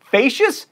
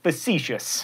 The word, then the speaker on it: facetious: not pawned or queened facious no facetious also i swear if